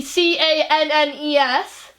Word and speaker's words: Cannes: How do you pronounce the city? C-A-N-N-E-S? C-A-N-N-E-S. You mean the one in France? I don't know. Cannes. There we go, Cannes.